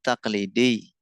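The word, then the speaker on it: تقليدي: Ya, ada pasal tradisional asuut takqlidi pengucapannya ditekan ya teman-teman karena ada ya nisbatnya di belakang. Assuuk taqlidi, assukul markazi.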